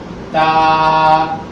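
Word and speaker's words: ت: তা তা তার উচ্চারণ হচ্ছে জিহ্বার আগা সামনের উপরে দুই দাঁতের গোড়ার সঙ্গে লাগাইয়া চিকন আওয়াজ দিয়া একালিক টেনে বলতে হবে।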